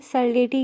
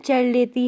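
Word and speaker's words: Cerletti: मैं इसको बिनी एंड सर्लेटी कहती हूँ, जिन दो साइंटिस्ट ने इस थेरेपी को जन्म दिया है। पर इनका एक्चुअल जो प्रोनाउंसिएशन है इनके नेम का, वो बीनी एंड चर्लेटी है।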